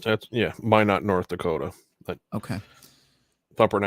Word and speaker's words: Minot: Is that how that's pronounced? That's, yeah, Minot, North Dakota.